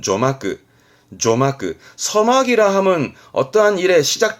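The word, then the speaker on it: 序幕: 개막식 폐막식을 이거는 서론 본론에 서점이다 서막입니다 발음은 조마끄 조마끄 서막이라함은 어떠한 일에 시작 단계를 말하는 거죠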